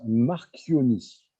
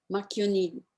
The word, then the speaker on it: Marchioni: Alors ça se prononce Marchionni. Marchionni.